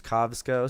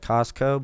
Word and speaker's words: Kovsco: My name is Kovsco. Sounds like Costco, but it's pronounced Kovsco.